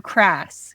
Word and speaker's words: KRAS: So, you know, pancreatic cancer, are you crass? Pronounced KRAS.